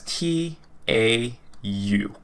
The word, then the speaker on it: tau: kick in its step right and then we pronounce it as t a u tau and tau is a greek letter okay so